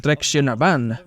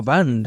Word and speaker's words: Traction Avant: Y sí, sé que se pronuncia Citroën Traction Avant, no Van, así que no necesito 4 millones de comentarios de eso.